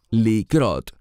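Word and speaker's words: לקרות: Me refiero a una palabra que se deletrea Kuf Resh Hei y se pronuncia likrot, significa pasar o acontecer.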